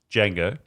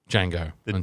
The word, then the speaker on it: Django: uh diane go unchained django django sorry silent i've been tom the d silent clip clip clip i